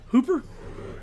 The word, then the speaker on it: Hooper: Hooper.